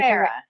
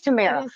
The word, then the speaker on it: Tamara: I think I was saying Tamara. It is Tamara.